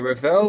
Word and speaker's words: Revell: So, I'm going to do a kit review on the Revell, or Revell, or however you like to pronounce it in your own countries. In Australia it's Revell. And it's the Black Widow 57 Chevrolet 150 utility sedan.